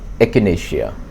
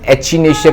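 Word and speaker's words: Echinacea: दी वन ऑफ the best remedies in homeopathy is एकनेशिया। एकनेशिया अंगस्टफोलिया। इसको ना कई लोग एचनेशिया करके प्रोनाउंस भी करते हैं।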